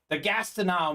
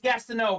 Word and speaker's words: Gastineau: Gastineau mini, Larry.